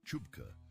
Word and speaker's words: CHBCA: The Committee for Human Biological Compatibility Assessment, or CHBCA, pronounced Chupka by everyone who had to say it more